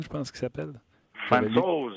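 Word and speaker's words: Francouz: Puis même Grubauer à Colorado, moi, Fantou, je pense qu'il s'appelle. Fantos, il faut le prononcer.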